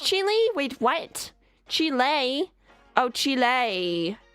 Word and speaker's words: Chile: A spell like child but pronounced chile.